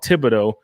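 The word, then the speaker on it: Thibodaux: you the name, because it's called Thibodeau, but it's spelled Thabadox, thanks to the French.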